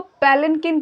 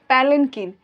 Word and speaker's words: palanquin: इसको पैलनकिन कहते हैं. PALANQUIN. देख लीजिए इसका स्पेलिंग, पैलनकिन.